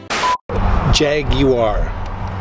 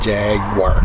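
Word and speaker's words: Jaguar: Jag War. Jag War, that's what I said. No, you said Jag War. It's Jag War. Jag War. No, three syllables.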